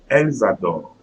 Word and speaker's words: elles adorent: Elles adorent. Elles adorent. So again, ENT, it will be pronounced like French E, so E, and since it's at the end, so I'm not pronouncing the E.